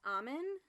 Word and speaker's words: Ommun: So it is pronounced Amen? Like Amen? Like A-M-E-N? Yeah. It's like O-M-M-U-N. But yeah, it's like the prayer type of Amen.